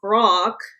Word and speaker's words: Groq: Jonathan Ross, the founder of and CEO of an AI chip company named Grok. Is that how you pronounce it? GROQ? Yeah, it is, but it's spelled different, obviously, than the Yeah, GROK.